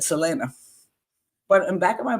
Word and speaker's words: Selena: in laugh she goes Selena so Selena pronounces her name the American way not the Mexican Spanish way and but her last